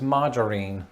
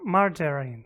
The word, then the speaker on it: margarine: whole life i only ever knew this as margarine that sounds like some old lady's name it